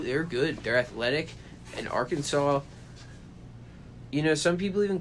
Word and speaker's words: Arkansas: they're not weird but we call it Arkansas yeah not even Arkin sass there's no W in